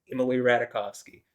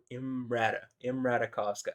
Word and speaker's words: Emily Ratajkowski: I just, I'm gonna say it like it's spelled. I'm getting tired of trying to fucking correct myself. So Imrata, if I say Emily Ratajkowski, well, welcome to English, where we don't say a V for a W, and SKI is pronounced ski, not ska. Anyway, yeah.